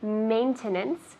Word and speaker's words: maintenance: How do you say maintenance in Spanish? Mantenimiento. Good. Maintenance, not maintenance. We put less emphasis on the end. Main is the emphasis.